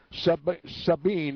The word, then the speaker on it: Sabine: in the territory of Sabine, Sabine, if you want to pronounce it that way.